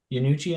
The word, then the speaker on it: Iannucci: Iannucci, I think is how it's pronounced.